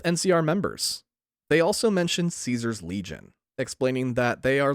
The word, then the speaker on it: Caesar: __ ] reason the the vast majority of characters pronounce it as Kaiser no even though the developers call him Caesar in every interview I